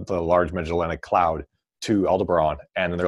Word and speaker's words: Aldebaran: the LMC to Aldebaran, which I think is how you pronounce that one. I always want to say Alderaan, but of course it's Aldebaran.